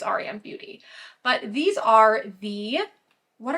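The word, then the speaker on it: r.e.m. beauty: E.M but sometimes people call it REM Beauty but I think it's Aran Beauty but these are the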